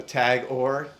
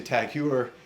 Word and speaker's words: Tag Heuer: This is a Tag Heuer, or Tag Heuer. People pronounce this different. Some people say Tag Heuer. I think the correct pronunciation is Tag Heuer.